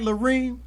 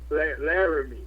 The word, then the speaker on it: Larime: Am I pronouncing it right, Larime? Larime.